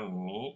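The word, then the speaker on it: عمّي: Hiya bintu ammi Nah Ibu perhatikan tanda tasdid pada kata ammi itu bukan milik ya tetapi milik mim jadi bacanya begitu yaustaz Tayib masmuha ismuha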